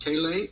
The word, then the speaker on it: Callais: We will hear argument first this morning in case 24-109, Louisiana versus Callais, and the consolidated case.